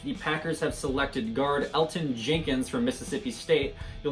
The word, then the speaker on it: Elgton: So with the number 44th overall pick, the Packers have selected guard Elgton Jenkins from Mississippi State. You'll notice his first name has a G in it. The G is silent, so if you're cheering